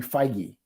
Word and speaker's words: Feige: said just this little side weave is he pronounces his name feige uh kevin feige and he was installed after aviarad when aviarad